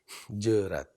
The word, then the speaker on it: jeurat: Jerat. Di dalam bahasa klasik Aceh. Tulisannya jeurat gitu. Jerat, ya. Jerat. Jerat, ya. Pronunciation-nya jerat, ya.